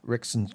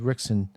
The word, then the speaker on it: Rickson: It was Rickson's Gracie's book.